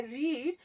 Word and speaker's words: read: Second और third दोनों form हम रेड रेड प्रोनाउंस करते हैं, लेकिन लिखते हम रीड ही हैं, यानी कि READ ही लिखेंगे हम। स्पेलिंग वही रहेगी, सिर्फ साउंड प्रोनाउंसिएशन चेंज होगा, ठीक है।